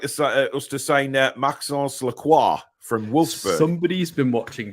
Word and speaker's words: Lacroix: Yeah, and I actually pronounced it correctly as well. Just putting it out there. Lacroix. It's Lacroix.